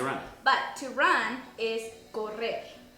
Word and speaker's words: correr: But to run is correr. Correr. Correr. Now remember when I said about the R's? This has 2 R's in it, so it is correr.